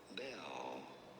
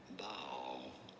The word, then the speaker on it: Baal: There are two different ways of saying it. Either bell or bow.